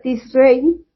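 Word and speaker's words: Tishrei: en hebreo es el se pronuncia tis Rey o etanim que son entre los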